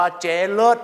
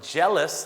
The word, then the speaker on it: jealous: นะ ครับ ผม และ ไม่ ได้ ชม ว่า เจลส นะ ฮะ เจ๊ เจ เลิศ มาก แต่ ละ คำ นี้ คือ ออก เสียง ว่า jealous นะ ครับ ก็ แปล